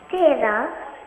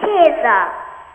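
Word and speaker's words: Kezia: Keda. Keda. Keda? No, not Keda. Keda. Spell it for me. I'm Keza. Keza. Spell it. Listen on the phone. T-E-J-I-A. Keza. K-E-Z-I-A. Keza. Keza.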